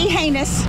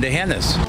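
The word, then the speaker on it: D'Hanis: Not the heinous. A common mistake. But wrong. And remember, there's no anus in Dehennis.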